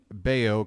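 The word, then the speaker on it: Bello: Burns is going to be on the mound Brian beo rhymes with mayo will be on the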